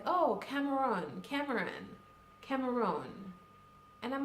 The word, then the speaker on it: Cameroon: Well, first of all, I hate the way they pronounce Cameroon. Like, it's Cameroon or Cameroon. Either way, English or French, it's basically the same. Like, you hear things like, oh, Cameroon.